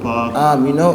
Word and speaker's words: Paak: Paak or Paak or Paak? Actually, okay, I'm gonna say this right now. So it's actually pronounced Paak, and it's my mother's original last name because she was adopted from Seoul.